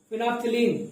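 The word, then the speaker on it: phenolphthalein: तो प्रोनाउंसिएशन देख लेना, फिनोप्थिलीन, है ना।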